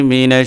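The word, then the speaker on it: مِنْ: এখানে মিং এরকম হবে, মিন না, নুন না, যন্তান্ন না, ঠিক আছে?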